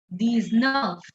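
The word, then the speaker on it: dix-neuf: set 18 these wheat 18 these wheat 19 these nerve 19 these Nerf and the last one 20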